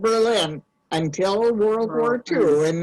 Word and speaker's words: Berlin: And Well, in Ohio, there's a town spelled Berlin. How would you pronounce it? Berlin. Berlin. No, it's Berlin. Berlin. In Wisconsin, they have the same town. They still call it Berlin also.